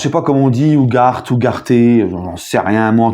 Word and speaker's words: Ugarte: Donc Ugarte, alors je sais pas comment on dit, Ugarte, j'en sais rien. Moi en tout cas c'est un Sud-Américain, donc je vais le prononcer Ugarte.